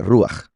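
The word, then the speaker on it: רוח: En hebreo, la palabra que se ha traducido al español como espíritu se pronuncia ruach.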